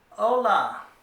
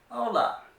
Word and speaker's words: hola: to teach you is hola the H is silent so you're pronouncing it as if it was spelled o-l-a hola it means hello it's